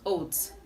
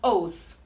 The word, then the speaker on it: oath: pronounce it t yeah so it is not oat it is oath oath oath chicket all